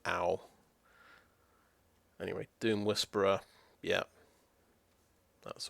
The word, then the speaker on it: Ao: AO's pretty good. Or I think it's pronounced owl.